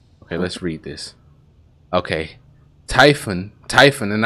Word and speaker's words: Typhon: okay typhon typhon and i realize in other gameplays that i was saying typhoon a lot and i knew i was saying it wrong but i just it just was a habit you see t-y-p-h-o-n you think typhoon right but it's typhon typhon pit um tall drop-off